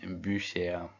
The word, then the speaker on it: Bücher: Die Bücher. Est-ce qu'on est d'accord que le U sans tréma se prononce OU et que le U avec un tréma se prononce U?